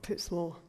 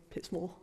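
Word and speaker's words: Pitsmoor: so if you actually from pitts more you pronounce it pips more not pip small pits more so another word that we use a lot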